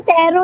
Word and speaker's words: Tarot: गया फिर अब ये टैरो पे आ गया और टैरोट इसलिए क्योंकि इसमें टी लिखा है टैरोट जाता है टीथ में साइलेंट होता है ओके ओके ओके मैम